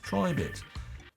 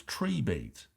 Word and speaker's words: Tribit: but it turns out their name isn't actually pronounced Tri bit it's tree beat because their slogan is